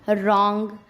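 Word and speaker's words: wrong: Rule number 2, अगर आर से पहले डब्लू आता है तब भी डब्लू को चुप ही रहना पड़ता है, तब भी डब्लू नहीं बोल सकता, वो भी शांत रहेगा। जैसे रॉन्ग, राइट, रैप।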